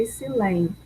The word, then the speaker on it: excelente: Então, a sílaba mais forte é excelente, tá?